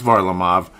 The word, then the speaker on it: Varlamov: Varlamov, as I'm finally saying it correctly, even though I've obviously been watching the games, but the pronunciation, I've heard it back and forth. It's Varlamov.